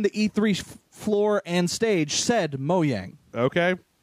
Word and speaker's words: Mojang: moyang until E3 uh you don't pronounce the Jay yeah apparently it's pronounced moang okay um like I always called him Mojang I but I I